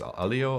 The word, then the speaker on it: Aleo: any better but the the canonical pronunciation is Alo rhymes with paleo so at least that's